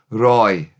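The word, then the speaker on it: rhoi: Roy, r o i.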